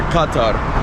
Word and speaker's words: Qatar: Good morning, my friends, and welcome back to another video in our Qatar series, guys, or as they pronounce here, Qatar.